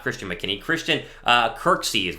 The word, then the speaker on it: Kirksey: I am all for Christian McKinney, or not Christian McKinney, Christian Kirksey is how you say his last name there out of the Browns.